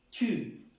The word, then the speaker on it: tu: Entonces, je, tú, se escribe de la misma forma, pero ya pronunciando la U como les enseñé en el alfabeto. Tu, como si escribiéramos una T con una U así.